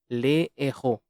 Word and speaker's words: les héros: There is no liaison, however, with the aspirate H. Les héros.